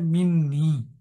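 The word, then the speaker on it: مني: ইয়া টাকে প্রটেক্ট করে এবং যার জন্য তার উচ্চারণটা হয় মিন্নি মিন প্লাস ই ছিল উচ্চারণের স্বার্থে এখানে একটা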